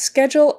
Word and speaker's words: schedule: That CH is like a K or a C sound. So K, ske, ske, schedule, jul, jul. That DU is more like a JU, j, jewel, jewel. When there's an L, jewel, jewel, your lips are going to kind of round as if there were a W in there.